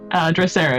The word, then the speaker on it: Drosera: Drosera is how we pronounce it.